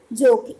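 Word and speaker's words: joke: ठीक है, जोक ई साइलेंट है।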